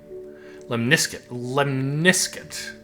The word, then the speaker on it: lemniscate: Okay, I don't really Lemniscate. Lemniscate. Emphasis on the second syllable.